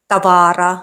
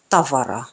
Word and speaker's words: tavara: And lastly, the stress is on the first syllable, meaning these words aren't pronounced Helsinki, tavara, kirjoita. Should be Helsinki, tavara, kirjoittaa.